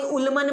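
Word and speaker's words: Ullmann: That is द, कोई अल्मन बोलता है, कोई उल्मन बोलता है, जो आपको ध्यान रहे वो रखो, प्रोनाउंसिएशन है ये, समझ आ रही है बात।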